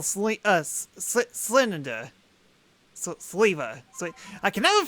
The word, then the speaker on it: Sneasler: Sleeva. I can never pronounce this guy's name. Sleeva? I mean, like, it sounds like beaver, just with a slee. Whoa, you look different. Sneeze-Liver. Sneeze-Liver. Sneasler.